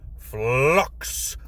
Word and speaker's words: Flux: It is I, Drahan, your humble host, and welcome back to Pathfinder Hero Flux. Gotta pronounce that L. As in fluctuation.